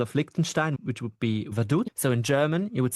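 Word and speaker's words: Vaduz: example the capital of Likenstein which would be Vadut so in German you would say vaduts and it's pronounced like in Roman because if you would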